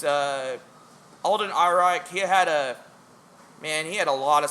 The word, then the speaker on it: Alden Ehrenreich: Now me personally, I think that the only fault with Solo in my eyes is Ian Reichart. Is that how you pronounce his name? Alden Ehrenreich.